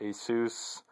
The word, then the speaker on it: Asus: There's a speaker with the Asus logo, or Asus, which I think is the correct pronunciation.